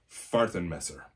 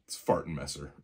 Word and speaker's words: Fahrtenmesser: very excited to get their hands on the Fahrtenmesser. No, I'm not kidding. That is what they're called. It translates to sheath knife. In English, it's Fahrtenmesser.